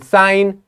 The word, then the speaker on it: sign: a silent letter and in sign g is silent in knitted K is